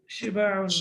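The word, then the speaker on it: شباع: Shiba'un, right? Okay. On the pattern of fi'alun, shiba'un. Sheen has kasra, ba alif, and then ain, shiba'un.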